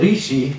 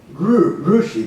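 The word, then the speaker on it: ऋषि: this this verse rishi there is a common mispronunciation of this we call it rishi like ri as a chi but that is the sample rushi there is an u part in there ooh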